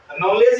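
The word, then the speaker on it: knowledge: य देखो नॉलेज नॉलेज नॉलेज य पर देखिए डी से पहले य जी से पहले डी ला है तो यहां पर डी को पढ़ेंगे क्या पढ़ेंगे इसको नॉलेज माने ज्ञान समझे आई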